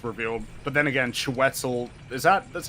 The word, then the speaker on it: Chiwetel: But then again, Chiwetel, that's how you say his name?